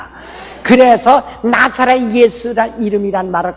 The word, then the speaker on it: 예수: 그러니까 여러분 예수라는 이미 여기저기 많다고서 솔직히요 나는 한국 사람인 것을 참 감사 지는데 우리는 예수라는 바음은요 헬라 바보고 아주 100% 똑같습니다. 지저 이거는 엉뚱한 이름이에요. 솔직해서요. 예수라는 우린 참 좋은 발음을 가지고 있어요.